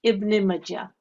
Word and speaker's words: Ibn Majah: IBN Majah Hadith N925. Okay, well done. Okay, so this is pronounced as Ibn Majah.